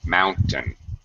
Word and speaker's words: mountain: Yeah, the second syllable is very unstressed. It's very relaxed. Mountain.